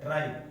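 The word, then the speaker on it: hide: अब E का देखिए, जब E किसी वर्ड के अंत में आता है, लास्ट में आता है, तो हम E को नहीं बोलते। E क्या रह जाता है? साइलेंट रह जाता है।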